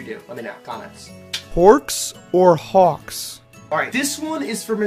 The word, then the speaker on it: Hawkz: It is not Forks. It's Hawkz. H-A-W-W-K. Hawkz. Please, if you're American, you know it's Hawkz. Does not rhyme with fork.